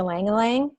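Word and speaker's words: ylang-ylang: distillation is for you Liang Liang so it's it's looks funny to us it's spelled y la ng y la ng but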